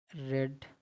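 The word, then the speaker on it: read: इसको जब first form होती है तो रीड पढ़ते हैं, जब सेकंड या थर्ड फॉर्म होती है तो इसको पढ़ते हैं रेड, ठीक।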